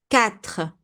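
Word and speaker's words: quatre: When we have cu and the vowel the u is silent we don't say I we say catra cat five sank sank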